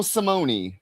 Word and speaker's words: Simone: Oh, there you pronounce the E, huh? Stefano Simone.